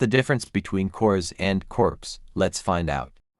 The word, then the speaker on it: corps: What's the difference between कोर्स एंड को्स? Let's find out. सो the first one we have is कोर्स जिसके अंदर RP silent है।